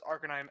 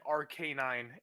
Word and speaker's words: Arcanine: I have people who legit pronounce Arcanine RK9, and it pisses Well, I me off.